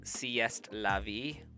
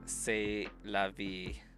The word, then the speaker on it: c'est la vie: But, like, I read that as sieste la vie. But, like, I know that it's pronounced say.